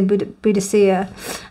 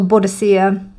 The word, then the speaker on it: Boudicca: was that little buddhistia I don't know how you say it I say Boudicca but some people say buddhasia um or bodicea um but uh like